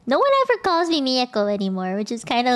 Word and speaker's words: Mieko: call me Mia no one ever calls me Mi Echo anymore which is kind of like what's the point of the last syllable man but it is back to hello